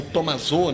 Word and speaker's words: Tommaso: do rio que eu tommaso ou tomazol né porque é o a forma de pronúncia italiana né então assim ele se